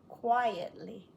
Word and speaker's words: quiet: asked him a question quietly sh quietly why did he quit he is quite tall quiet two beats quiet quit short eye